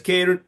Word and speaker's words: Ciaran: for car insurance and says Karen c i a r a n yes exactly Poss using